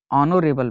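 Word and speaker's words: honourable: Paritosh is dash ऑनोरेबल मैन। तो आप जानते हैं ऑनोरेबल वर्ड जो है, इनका जो उच्चारण है वावेल साउंड से शुरू होता है, इसके लिए यहाँ क्या प्रयोग होगा?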